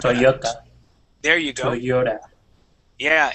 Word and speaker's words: Toyota: saying to all right the the Y in English Okay would be a y sound so we would say Toyota Toyota there you go Toyota